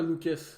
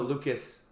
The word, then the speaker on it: Lucas: And he told me that in English it's Lucas and in French it's Luca. But we're French guys.